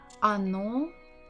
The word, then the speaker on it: оно: Оно тут. Оно тут. Again, the word оно. The stress is on the final syllable. What about the first? Not stressed, so we say it as А.